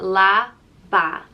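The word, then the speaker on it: leaba: it means bed and it's pronounced la ba la ba so someone might say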